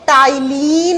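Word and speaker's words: ptyalin: इसी का दूसरा नाम होता है टाइलीन अमाइलेज एंजाइम। टाइलीन अमाइलेज एंजाइम देखो बच्चों स्पेलिंग होती है पी से जब प्रोनाउंस करते हैं तो पी साइलेंट हो जाता है टी से बोलते हैं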